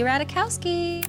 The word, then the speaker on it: Ratajkowski: of her last name the Jay is silent she'd often have to